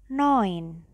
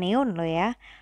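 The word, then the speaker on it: neun: tulisannya do the OCS Nah itu bacanya oi berarti Noin bukan neoya Noin 10 Cin 10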